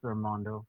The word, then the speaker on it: Armando: your name correctly yes it's pronounced armando armando so and uh can